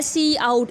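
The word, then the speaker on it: cout: सी ओ यू T basically आवाज़ निकलता है सी आउट इसको हम प्रोनाउंस करते हैं सी आउट उसके बाद जोशी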